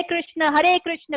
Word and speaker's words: कृष्ण: ठीक है, और आपने जो प्रोनाउंस करना है वो है हरे कृष्ण, कृष्णा नहीं है, कृष्णा। लोग करते हैं हरे कृष्णा, आपने ये नहीं करना, आपने करना कृष्णा का मतलब हो जाता है संस्कृत में कृष्ण का।